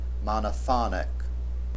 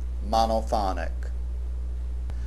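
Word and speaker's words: monophonic: Notice the difference in pronunciation. Monophony, monoponic. The accent is on the second syllable in the noun form and on the third syllable in the adjectival form. Monophony monoponic.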